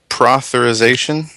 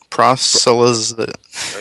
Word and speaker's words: proselytization: Religious protherization? Proselytization? You know what? I cannot pronounce that word properly.